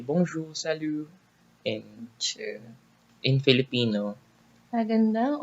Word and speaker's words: bonjour: Bonjour. It's not bonjour. They don't pronounce J as But J isn't as it J. like bonjour is Bonjour.